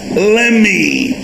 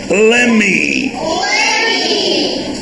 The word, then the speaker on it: let me: دي اسمها Lemmy. مش بننطق التي هنا هنقول ايه؟ Lemmy.